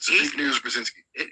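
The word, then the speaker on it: Brzezinski: He's the father of Mika Brazinski on morning Joe Ballal and uh big news I think is how you pronounce it. So big news Brzinski.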